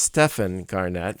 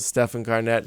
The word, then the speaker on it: Stephan Garnett: And his name is pronounced Stephan Garnett. Thank you. Am I pronouncing that correctly? You did. Stephan Garnett. You but did.